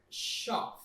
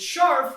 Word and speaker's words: Scharf: wife's episode and today we are drinking yeaa Shar did I say it right Shar yeah Shar okay we're good Teresa if you